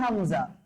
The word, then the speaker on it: হামজা: হামজা উচ্চারণটা কিন্তু আবার আলিফের মতন করে।